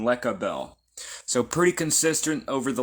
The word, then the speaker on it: Lecabel: the Divine cabal rud replaces the C with a K but it's still the same pronunciation lecabel so pretty consistent over